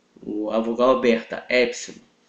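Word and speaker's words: έψιλον: A letra epsilon é como se fosse a nossa vogal aberta no português. Ele é o E, ok? Essa é a pronúncia do epsilon, E. Como se tivesse um acento em cima do E.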